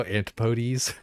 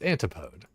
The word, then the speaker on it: antipode: Antipotes? Is it actually? There's no way it's antipotes. It's antipode.